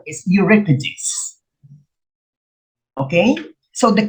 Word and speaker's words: Euripides: first syllable sophocless and euripides i used to pronounce this europeans but the correct pronunciation is euripides okay so the correct answer here is homer